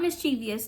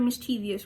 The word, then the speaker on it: mischievous: Not mischievous. That I don't know. People pronounce the word mischievous wrong. I was told growing up in school that it's called mischievous. Mischievous. Yeah. Not mischievous. Mischievous.